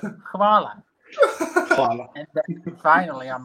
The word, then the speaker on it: hvala: The pronunciation for thank you is hvala. Yeah. H-A-L-A. And you pronounce hvala, and then like these Australians were like, "What do you mean koala?" And I'm like, Hvala. like, instead of koala, just put H, and that's gonna be like hvala.